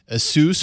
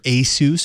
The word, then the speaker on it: Asus: taking a quick look so this is the soos or ASIS or ASIS it's kind of like Jeff gif it's really however you want to pronounce it as far as I'm concerned but the Ascend phone